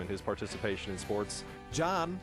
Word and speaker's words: Can: his participation in sports john his name is spelled with a c which is pronounced like a j in turkish came to the u.s